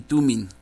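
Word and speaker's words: Thummim: juicio bring y tuning algunas pronuncian jurí ni tú me pero aquí yo estoy viendo que las palabras no traen acento entonces debe de pronunciarse touring y tuning para que estén sobre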